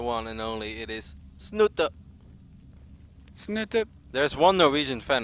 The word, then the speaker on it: Snute: mad every single time did you say it like that I say snoot he's like can you please stop saying snoot it's it's not you ever been to